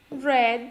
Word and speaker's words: read: hali reddi arkadaşlar yazınız yazılışı aynı okunuşu farklıydı ve diyeceğim ay Red bu Turan toybox dessman mantı yiyeceğiz bu ay 20 kitap okudum şu M dikkat edin Burada aynı yazdım mredy ama Red diye okuyorum fiilini ikinci haliyle okumuş